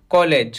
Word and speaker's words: collage: बनाते हैं फोटो का, तो उसको हम पढ़ेंगे कोलाज, और महाविद्यालय को हम बोलेंगे कॉलेज।